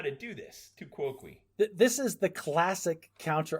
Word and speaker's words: tu quoque: I'm perfectly happy making crap up all the time, but Ben had to look up the pronunciation online. On Wikipedia, it says tu quoque.